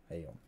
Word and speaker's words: Aion: Aion, not Aion. Aion. Aion is the right way to say it, isn't it?